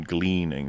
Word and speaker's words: gleaning: Like like how are you not how are you not gleaming anything from that? You mean you mean gleaning? Right. Gleaning. Yeah. I think have I been saying it wrong all these years?